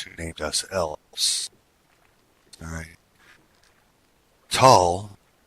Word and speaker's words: Tel: Tal, spelled T-E-L, but pronounced T-A-L, is our race name.